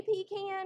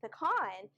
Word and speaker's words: pecan: And she's like, no, and I quote my mother, she said, the only people I've ever heard say pecan are Paula Deen and Jimmy Carter. So, we were a family of pecan lovers where I grew up.